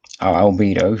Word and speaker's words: Albedo: it should be albedo but i'm sure they mispronounce it from time to time yeah so yes uh albedo who is um i got one a galvan